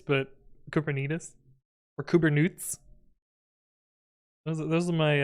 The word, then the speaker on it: Kubernetes: paying me then what Cooper noodles uh or as we would you'll come out uh it's kubernetes like diabetes but kubernetes or kubernutes those are